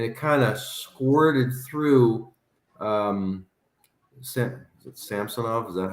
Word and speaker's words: Samsonov: And it kind of squirted through Samsonov. Is that how we say his name? Mm-hmm. Samsonov.